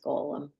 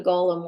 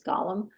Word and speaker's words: Golem: I knew what a Golem was and I was pronouncing it incorrectly because I was pronouncing it like it is in The Lord of the Rings um which is Gollum uh yeah was Tolen